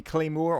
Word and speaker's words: Cleighmoor: ye olde fashioned and it may be Claymore Claymore but you know claymores like a sword so I keep pronouncing it that way well this is fen